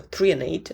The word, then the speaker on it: threonate: 145 milligrams of magnesium threonate, so threonate, that's how you pronounce it, 145, and then we have 200 milligrams of magnesium bisglycinate.